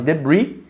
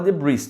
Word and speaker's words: debris: A gente pode chamar de debris. E a pronúncia é assim, ó. Tem esse S só para sacanear na sua vida. Tem o S aqui, ó. Muita gente fala debris, tá errado, tá? É debris.